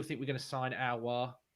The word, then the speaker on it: Aouar: we're going to sign Aouar. There you go. That's how you pronounce it. Aouar. Okay, like that. Yeah.